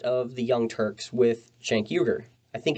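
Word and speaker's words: Cenk Uygur: the young turks with shank yuger i think it's jank juger i think it's your i don't like mispronouncing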